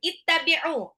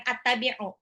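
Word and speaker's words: اتَّبِعُوا: Bacanya bukan attabi'u, tapi ittabi'u. Kenapa? Karena ini adalah hamzah wasol yang tidak ada harokatnya, maka dia ikutin harokat huruf ketiga, yaitu adalah kasroh. Ya, ya, lain kali ketika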